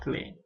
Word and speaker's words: clé: Ini kan kalau dalam bahasa Indonesia kita bacanya clef, tapi sesuai aturan pertama huruf terakhir tidak dibunyikan sehingga kita membacanya clé.